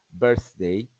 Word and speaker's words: birthday: Mientras que cuando pronuncio la palabra cumpleaños, birthday, there's no vibration, las cuerdas vocales se relajan y no hay vibración. Entonces la palabra birthday representa la TH dentro de un sonido sordo.